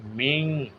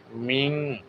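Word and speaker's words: مِن: সম্মানিত খোকন ভাই মিং এখানে ওয়াজিব গুন্না মিন লেখা থাকলে মিন মিন এভাবে নাকের ভিতর গোপন করে এই ওয়াজিব গুন্নাটি উচ্চারণ করবেন মিন সাররি মালাক আমি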